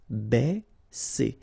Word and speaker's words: baisser: Ba, okay, because A and E together will produce the sound E. Baisser, baisser.